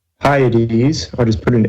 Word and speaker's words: Hyades: is the V shaped Hyades it's pretty it's it's spelled H why I should have put it up here hiya dee dee's I'll just put an H for the Hyades spelled like high eighties